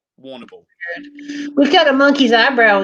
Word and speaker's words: Warrnambool: I've lived in Warrnambool, Wagga Wagga.